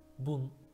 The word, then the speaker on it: 聞: Kiku, Çince okunuşu bun.